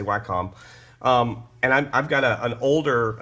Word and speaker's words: Wacom: or how to say it but I say why com and i've got an older cintiq 24 you